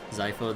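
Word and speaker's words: Xipha: So wait, is it Zypho the Z? No, I mean like, I mean it's with an X, but pronounced like a Z pretty much.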